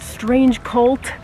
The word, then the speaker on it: Strange Cvlt: Again, they are called Strange Cult. 99% sure that that's how it's pronounced.